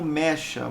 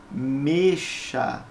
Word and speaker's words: mecha: mecha ah ah é ela tem um som fechado então você não produz como mecha você produz como mexa tá bom a pronúncia fechado igual a mexerico Albert é porque que